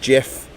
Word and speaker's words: GIF: And um GIF which pronounced GIF according to the person who invented is is like graph graphics interface graphical interface format I think.